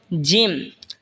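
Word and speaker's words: جيم: এরপর এটা হলো জিম। জিম জিহ্বার মধ্যখান তার বরাবর ওপরে তালের সঙ্গে লাগা উচ্চারণ হবে জিম।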